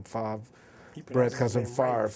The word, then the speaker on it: Favre: he pronounced his name Favre, Brett cousin Favre. Right. Yeah, he pronounced his name right.